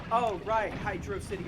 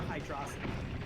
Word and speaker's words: Hydrocity: City or hydrosity yeah I know it's supposed to be Hydro say I've always pronounced hydrosity I don't know why I've always said hydrocity it's like it's clearly meant to be a water city right yeah like I